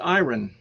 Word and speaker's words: iron: okay hi Ron hiring iron iron no it's pronounced iron I run that's how I pronounce it because